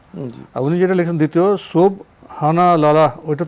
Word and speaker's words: সুবহানাল্লাহ: প্রিয় দর্শক আরো লিখেছেন সঠিক উচ্চারণ কোনটি সুবহানাল্লাহ নাকি সুবহানা সুবহানাল্লাহ সুবহানাল্লাহ এটা হচ্ছে সঠিক উচ্চারণ লিখেছেন সুবহানাল্লাহ এটাই না সুবহানাল্লাহ সুবহানাল্লাহ জি সুবহানাল্লাহ সুবহানাল্লাহ জি সুবহানের পরে আল্লাহ শব্দকে আলাদা করার বৈধতা নেই এজাফত হলে এখানে আলাদা করার বৈধতা নেই সুবহানাল্লাহ উনি যেটা লিখেছেন দ্বিতীয়